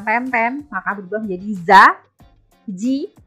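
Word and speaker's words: じ: Kamu tambahkan tenten maka berubah menjadi za, ji. Bukan zi ya tapi ji ya. Perhatikan. Za, ji, zu, ze, zo.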